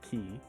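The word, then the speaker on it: 木: So you get from, the character moto, but also be pronounced like ki.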